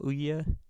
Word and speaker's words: Ouya: Ooya spelled like this.